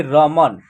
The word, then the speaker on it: रमन: अक्षर में नहीं होगा न अक्षर लास्ट में है तो इसमें क्या होगा ना अ की साउंड का उच्चारण नहीं आएगा न का उच्चारण यहां आधा हो जाता है देखिए रमन ठीक है ना इस तरह होगा रमन ऐसे उच्चारण नहीं होगा जैसे कि इसमें स